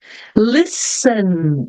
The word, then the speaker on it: listen: s Ok então Island Listen list que que acontece aqui não pronunci a letter T letter T aqui é muda listen Samon Samon eu